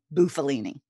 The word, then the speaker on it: Bufalini: I feel a little better then because I always want to say Bufalini. That's actually the correct way to say it, but it's been Americanized. So what can I say?